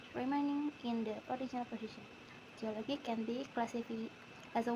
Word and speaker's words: geology: In the base element geo, the stress pattern is not fixed, but when the suffix logy is added, the primary stress shifts to the syllable immediately before the suffix, resulting geology.